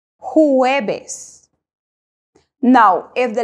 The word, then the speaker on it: jueves: learn this amazing language the letter J in Spanish is pronounced as H in English that is why for Thursday we say huebes huebes now if the letter